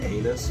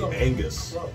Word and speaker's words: Angus: Yeah, it's not he calls it the big anus, but it's not. It's a big Angus. He just pronounces it a little off because he's the jester.